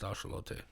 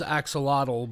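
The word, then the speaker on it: axolotl: I have a little axelottle on my desk. I have various bird figurines. That's a Michelle. Really? Yeah. It's pronounced ashelote. But I mean, the whole world says axelottle, but that's because they're not correctly pronouncing uh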